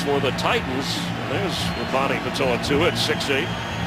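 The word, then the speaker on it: Pitoitua: And of course for the Titans, there's Ronnie Patoa-Tua at 6'8". Patoa-Tua, you've said it right twice today.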